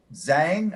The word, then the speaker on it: Zhang: Pam Zhang. I'm not familiar with how to say it. Zhang, maybe Zhang, like a zhuzh. Zhang, yeah, that's Zhang.